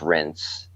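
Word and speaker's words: Reims: rents France it's it's not spelled rinse it's pronounced rinse but it's like spelled Reams there's an m in there oh sweet and it's game game in in rinse France it's a great convention I leave there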